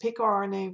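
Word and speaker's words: Picornaviridae: of verdier or awesome times pronounced peak rna viruses if you're familiar with the metric system pico is a unit of measurement there are a thousand pico units in a nano unit so that name of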